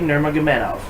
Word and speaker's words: Nurmagomedov: fight current white weight champion khabib nurmagomedov khabib nurmagomedov good try on that name no that's actually how you pronounce it did you google it yes I